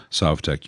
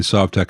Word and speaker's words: Sovtek: parts that made the Sovtek unique. I know I keep going between Sovtek and Sovtek. Someone told me that it should be pronounced Sovtek because Soviet and how the Russians actually pronounce it.